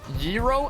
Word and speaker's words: gyro: It's pronounced gyro, and it's like a Greek taco.